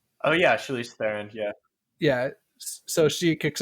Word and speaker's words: Charlize Theron: As Charlie's Theron, however you say her name. Oh yeah, Charlize Theron.